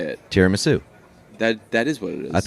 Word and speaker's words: tiramisu: Tiramisu. That is what it is. I thought somebody was Did they say like it's tiramisu? Tiramisu. Oh, it's like te, not tier.